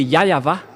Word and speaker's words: Yahweh: Mais c'est le V qui est vraiment la bonne prononciation. Et c'est pourquoi ils ont précisé le nom. Mais en fait, le nom, ce n'est pas eux qui l'ont créé, mais c'est pour vous prouver que la prononciation du vrai nom, c'est Yahweh.